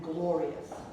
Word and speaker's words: glorious: So the rius becomes one syllable as well.